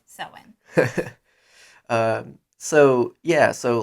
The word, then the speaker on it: Samhain: festival of samhain which is halloween halloween often mispronounced as samhain it's sewing so yeah so like that's his whole shtick